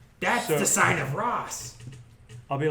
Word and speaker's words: Ras: Sounds like a When I say Ross, I mean RAS. We are agreed. never. Yes. R-A-S by itself. Sounds like a R-A-S. bad person. Oh, but R-A-S. it pronounces the same.